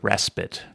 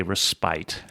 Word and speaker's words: respite: ran into was um saying the word respit right I really wanted to say respite respite because that's how it's spelled that and I had the word despite in there a few times and so uh so so it was just naturally to want to say respite and so it took me a